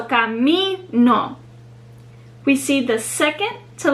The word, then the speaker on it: camino: So for example, the word camino, which means path, it ends in a vowel, the letter O. So camino. We see the second to last syllable is the one that's stressed. Camino.